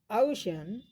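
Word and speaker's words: ocean: देखिए इसमें दो पार्ट में बोला गया है, ये शब्द ओशन ओशन ओशन, ये दो पार्ट में बोला गया है, लेकिन पहला पार्ट जो है वह जो है अधिक, उस पहले पार्ट के उच्चारण में शुरुआती ध्वनि काफ़ी तेज रही, हमारी पिच जो है, हमारा वॉल्यूम तेज रहा।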